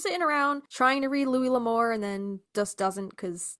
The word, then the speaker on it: Louis L'Amour: the name and he said, "How do you pronounce this name?" Julie said, "Louis L'Amour."